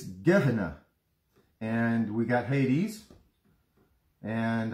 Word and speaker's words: Gehenna: so there are your four words you got gahenna which we mispronounced if you want to know how it's pronounced it's gedna and we got hades and uh that's hades